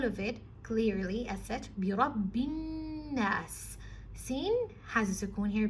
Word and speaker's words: بِرَبِّ النَّاسِ: Bi Rabbin Nas. Now the ba here, it has a shadda, so you have to emphasize on it, and the noon has a shadda, so you have to emphasize on that.